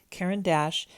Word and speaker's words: Caran d'Ache: of French in school I am americanizing this pronunciation so forgive me Karen Dash is a company that